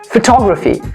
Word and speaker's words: photography: the word i mean on the letter t photography we do not say photography or we do